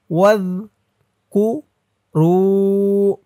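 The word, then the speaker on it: وَاذْكُرُوا: জালের উচ্চারণটা একদম নরম হবে, জিহ্বার মাথা ওপরের দাঁতের মাথার সাথে লাগবে। ওয়াজ কু রু রু একালিফ টান, পেশের পরে ওয়াও সাকিন।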